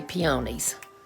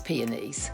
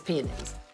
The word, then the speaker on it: peonies: In the South, people say peonies, but the correct pronunciation of it is peonies. So I'm going to say what the correct pronunciation is peonies.